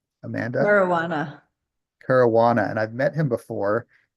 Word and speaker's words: Caruana: Caruana. And I've met him before in person, but I'm not good with pronunciations.